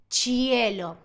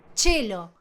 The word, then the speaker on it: cielo: Ejemplo, cielo se escribe de la misma manera, pero se pronuncia y lamentablemente acá no es como vos creés, no es cielo, porque cuando vemos la chino y después viene una vocal, esa i no se pronuncia, entonces quedaría chelo, chelo, chelo sin la i.